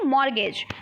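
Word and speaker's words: mortgage: तरीके से लिखने हैं फिर हम बोलते हैं मैच क्या बोलते हैं मैच लेकिन हम मैच से तो नहीं बोलते हैं क्या बोलते हैं मैं जिसमें 30 साइलेंट हो जाता है पर लिखने क्या है एम ए टी सी हा बोलते क्या है मैच ठीक है टी क्या होगा साइलेंट होगा फिर हम बोलते हैं मॉर्टगेज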